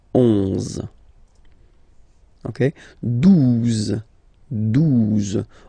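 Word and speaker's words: douze: 12, 12, O, U, the two together will give you the sound OO, okay? And then Z, 12, 12, all right?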